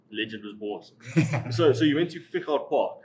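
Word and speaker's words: Fichardt Park: So you went to Fichard Park, correct? Am I pronouncing that correctly? Fichard Park, yes.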